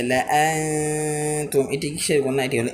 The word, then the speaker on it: لأنتم: ثمود فما ثمود فما ثمود فما لأنتم أشد لأنتم أشد আলিফে জাদা আসার কারণে এই আলিফটি উচ্চারণে আসবে না। এই যে লাআনতুম, এটি কিসের গুণা?